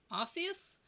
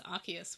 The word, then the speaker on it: Arceus: Pokemon Legends Arceus, which I always actually pronounce it as Arceus, but then I watched the trailer for this and I realised it was Arceus, which makes sense because the Arc phone would be Arse phone, and that is not super cool.